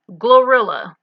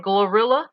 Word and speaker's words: GloRilla: Glorilla. And I said in a video it sounds like Gorilla.